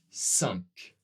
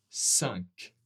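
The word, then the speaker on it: cinq: Le prochain ici, le I et le N, eh bien, ensemble, c'est le même son que U et N. 1, 1, 1. Et ensemble, cette fois-ci, on va prononcer le Q. Au final, on aura 5.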